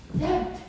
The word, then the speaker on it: debt: doubt, debt when he should pronounce debt, D-E-B-T, not D-E-T.